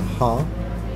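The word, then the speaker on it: ห้า: forgot the name five is pronounced as a ha in Thailand so 555 I expect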